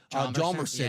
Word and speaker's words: Hjalmarsson: They always had to spell Nicholas Hjalmarsson. Yeah. Like, I can't do it without looking. And he's H is silent.